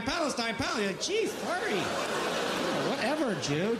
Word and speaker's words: Palestine: last 50 years huh let's pronounce it right Palestine Palestine pal geez sorry whatever